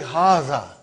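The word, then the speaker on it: هذا: to erase it see it is pronounced like haza but this alif is not written it is explained in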